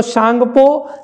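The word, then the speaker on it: Tsangpo: से जाना जाता है, तो सांगपो नाम से जाना जाता है, टी साइलेंट रखिएगा।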